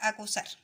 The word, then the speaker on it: acusar: Está la palabra corazón y la palabra acusar. ¿Ya? Estas dos palabras son agudas. ¿Por qué? Porque se marcan en la última sílaba, ¿ya?